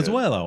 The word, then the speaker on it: Pozuelo: Just call him Pause, like Richard Greenberg. Yeah, Pozuelo.